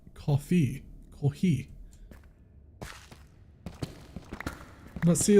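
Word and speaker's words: コーヒー: Coffee used to have it This kanji that used to be pronounced as mocha but today they use katakana that sounds like kofi kohi.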